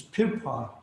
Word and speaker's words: Birpai: Just even the word Birpai, can be pronounced more softly as Birpai. So it's a P instead of a B in that sense.